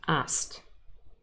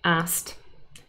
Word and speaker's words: asked: pronounce it in fact the e d is a t sound asked and there's something else that happened if you listen carefully asked the k is kind